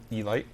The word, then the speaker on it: Elite: E-Lite? Elite on Commodore 64. No, he said it right. It's E-Lite.